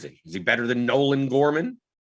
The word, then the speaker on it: Nolan Gorman: kirkwood says storm in norman gorman it's nolan gorman we're getting his first name wrong it was nolan gorman i said nelson gorman he says norman